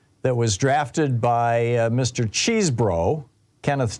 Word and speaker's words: Chesebro: Cheesebro, Kenneth Cheesebro. Apparently he pronounces his name Cheese, even though it's spelled C-H-E-S, E-B-R-O, like Chesebro.